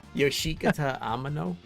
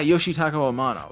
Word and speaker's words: Yoshitaka Amano: of space um wow what yoshikatano oh yeah yoshitaka amano yeah okay that's him yeah we gotta get